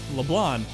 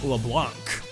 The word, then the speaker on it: LeBlanc: LeBlanc. This entire time, I nearly said it wrong again. I was saying LeBlanc with a hard, like, CK sound.